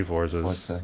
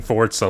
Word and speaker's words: Forza: Um, but Starfield and Forza and like many Forzas like you can keep saying fortza like we're building a fort. We're not. Um, it's it's Forza.